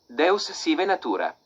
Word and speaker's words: Deus sive natura: The Stoics and Spinoza called their spiritualized universe des siva natura, either God or nature. Yeah, let's see how we pronounce that. Deus sive natura.